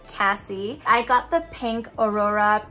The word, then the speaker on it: Cassie: review on it and i pronounced it casey and now i know it's cassie i got the pink